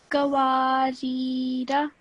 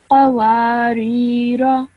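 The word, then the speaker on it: قواريرا: Okay, just make sure that when you say this first letter off, you say it from your throat. Okay, so within your throat, a bit deeper on, you have to kind of make an effort to say this letter.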